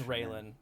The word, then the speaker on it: Rayelin: Um, none other than I probably should ask you how to properly pronounce it's Railen. You can call me Ray though.